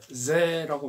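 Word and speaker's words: ぜ: 요거는 이제 세가 아니라 제라고 발음합니다.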